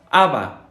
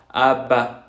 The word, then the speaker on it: ABBA: ABBA. Lo pronunciamos como si fueran las habas que nos comemos. ABBA. Pero si lo queremos hacer con una pronunciación a la francesa sería ABBA, ba, ba, ba, ba, ba.